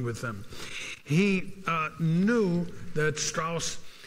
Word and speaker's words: Strauss: them he knew that Strauss straws I should pronounce his name right straws did not like Oppenheimer